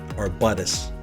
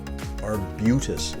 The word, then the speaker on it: arbutus: region here or bc i did hear an american client pronounce this as arbutus our buddhist a little while ago this is arbutus our butus it is a tree